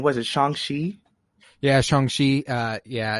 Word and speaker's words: Shang-Chi: his name was it shangshi uh yeah it's uh I he was referred to by Wong as Xiang Chi so I'm comfortable going with the CH sound for chi I do know however